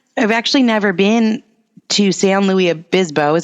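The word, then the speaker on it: San Luis Obispo: people should come I've actually never been to S Louis AB bisbo is how you say it's a cool name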